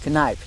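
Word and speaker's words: Kneipp: because you talked about father Sebastian Kip that's freedam csvi told me that's the way you say it Kip he also said you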